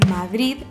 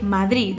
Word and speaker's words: Madrid: aproximan t es decir es la variedad de madrid donde hay una de muy suave al final